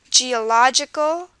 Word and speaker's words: geological: the beginning critical and geological geological stresses on the lodge so see how in